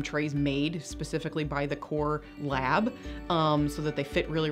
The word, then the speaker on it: KoR: Obviously, I can give you more prescription strength, and the kind that we particularly use in this office is called KoR. It's spelled K-O-R, so you can look that up on the internet, and there's lots of really good research with it.